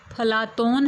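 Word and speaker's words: Πλάτων: प्लेटो शब्द शुद्ध यूनानी उच्चारण प्लाटोन है, जिसका विकृत रूप है अफलातून।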